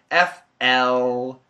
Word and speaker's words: flame: I want to know the difference between F-R-A-M-E and F-L-A-M-E. So obviously the meaning is different, F-R-A-M-E and F-L-A-M-E. It's the pronunciation, frame, flame, frame, flame.